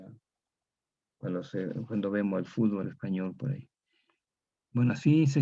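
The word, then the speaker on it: Espanyol: Y se escribe una Y y una N, pero todo pronuncia en español igual, pero se escribe así, una Y y una N, español, español.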